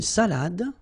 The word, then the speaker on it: salade: Then, une salade. Un dessert. Un café. All right, so, une salade. Same thing here. Final you don't insist on it. It only gives you the pronunciation of the previous letter.